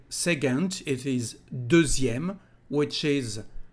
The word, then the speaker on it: second: actually we've got a second word to say second in French. This is the word second. And pay attention to the weird pronunciation, because the letter C is said like a G in French.